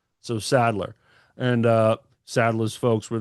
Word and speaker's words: Sadler: He gets that a lot where people throw an N in there. It's spelled the same but without the N.